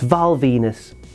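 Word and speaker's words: Val Venis: His last name rhymes with penis. That's right. It's Valenus or Steel with an E on the end as he was known in CMLL.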